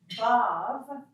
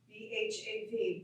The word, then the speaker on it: Bhav: Bhav, B-H-A-V, Bhav, is the divine mood or the state of unified existence.